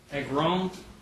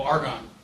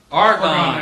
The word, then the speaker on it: Argonne: at Princeton University, and how do you pronounce that? Agron? Oh, Argonne. Argonne National Lab.